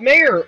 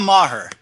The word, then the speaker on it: Maher: And Mayer. am I pronouncing your last name correctly? It's Maher. Maher.